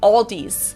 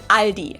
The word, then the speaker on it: Aldi: S that isn't there in the end and say Aldi's. In Germany, we just say Ali.